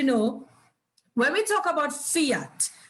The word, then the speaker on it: fiat: because you probably hear the word fiat to me it's it rhymes with liat so i think air